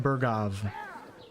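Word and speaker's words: Bergow: who we are Von berov see how W but he says V most of the characters pronounce W's as V's in this game and even if you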